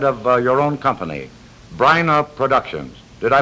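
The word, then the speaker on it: Bryna: and as head of uh your own company briana productions did i pronounce that right briana yes you did and i'm happy you pronounced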